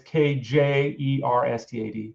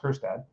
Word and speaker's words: Kjerstad: Was Heston Kjerstad, who, by the way, is Kjerstad, but it's pronounced Kjerstad.